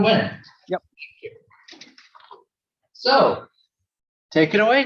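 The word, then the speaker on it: Nguyen: introduction to uh T neguyen I think is how you say your last name t no win you win so take it away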